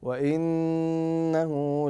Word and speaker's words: وانه: هو حكمها الميم احسنت تعطى غنه بمقدار حركتين وطريقه نطقها ان تركن عليها بمقدار حركتين فتقول فتقول فتقول وانه وانه وانه لفسق لفسق